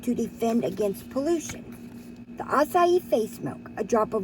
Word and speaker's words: acai: of caves acai the acai facebook i learned how to say it always said okay but it is acai face milk this is